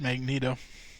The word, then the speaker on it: Magneto: yeah no it is written magnetto but it's pronounced Magneto okay sorry Magneto then comes to realize that